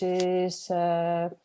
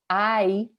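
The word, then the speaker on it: hay: And then we have this other word, which is quite handy too, this I. Okay, this is how you pronounce it, I. Remember the H is silent.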